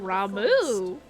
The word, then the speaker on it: Ramuh: Clarion in its intensity ramu is returned until ramu okay been saying it wrong this whole time